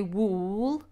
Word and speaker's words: wool: a completely different sound we don't say wool like fool we say wool like full so this is where